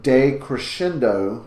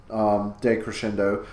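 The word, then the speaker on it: decrescendo: de in front but that de is pronounced day like da Y like have a good day so de crescendo is when the music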